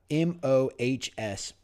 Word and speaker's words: Mohs: So the MOHS, I believe it's pronounced the Mohs scale, is used to define how hard / scratch resistant a material is.